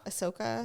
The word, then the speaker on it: Ahsoka: I did end up sitting and watching um Ahsoka with you yeah is that how you say it Ahsoka yeah okay what did you think of the